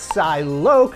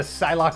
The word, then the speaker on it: Psylocke: to retrain myself to pronounce her name's Psylocke not Sai Lok than I did worrying about the body swap incident if you're just not that into Psylocke or apocalypse and this